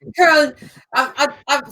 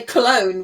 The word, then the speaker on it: Köln: Köln. For half, I expected you to say Cologne, which of course isn't spelled with a K.